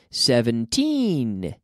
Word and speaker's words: seventeen: remember we talked about seventeen and seventy 17 with the stress on the second half seventeen Diffie siete and